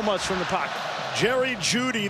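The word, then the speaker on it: Jeudy: from the pocket jerry judy the e is silent nothing else about him everything else is loud tyler beatty will bring it back short of the 20.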